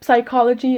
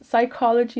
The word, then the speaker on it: psychology: always told me oh stop saying psychology it's psychology and i was okay okay